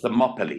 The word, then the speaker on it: Thermopylae: And first question I was going to ask you today, how do you pronounce it? You've answered Thermopylae. Thank you. It's Thermopylae, yeah.